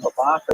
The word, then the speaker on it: Babatha: The name Babatha is a little unusual, that TH sound, which you don't normally find in Hebrew. In ancient Hebrew, the letter Saf pronounced that way, so it's not so crazy.